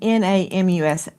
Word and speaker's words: NamUs: Lauren is saying N A M U S NamUs is the way it's pronounced, and it is a